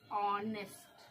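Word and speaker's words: honest: एन ई एस टी ऑनेस्ट ठीक है बच्चों एच एच ओ को ऑनेस्ट यहां पर देखिए एच जो है आपका साइलेंट है यानी चुप क्या है चुप है वो बोल नहीं रहा है ओ को ओ पढ़ेंगे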